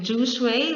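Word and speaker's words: 哲学: Jishue for Chinese, pronounced something like jushui, which means wise study.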